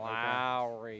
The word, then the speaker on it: Lowry: Lowry.